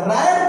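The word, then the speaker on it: read: when it इज रेड verb का third form रेड पढ़ोगे pronunciation क्या पढ़ोगे ले बेटा ठीक है रेड पढ़ोगे थर्ड फॉर्म तो ये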